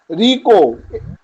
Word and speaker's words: Ricoh: বলেছি, Hewlett Packard বলেছি, রিকো, RICOH, এইচ এর উচ্চারণ হয় না, রিকো, ডেল, IBM, DELL, IBM এর প্রত্যেকটা হচ্ছে তোমার ক্যাপিটাল, গেটওয়ে, GT, আইবিএম এর পর স্যার কি হবে?